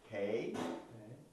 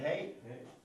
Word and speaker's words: Hei: Y luego esta es una H que se pronuncia Hey. O la Vav se usa en dos formas, la B o la W, ¿verdad? W. Y esta forma es la misma que esta letra, se dice Hey.